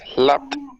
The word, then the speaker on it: clapped: Clapped. Listen. Yeah. You have to make the p and the t simultaneously. You have to say clapped, Clapped.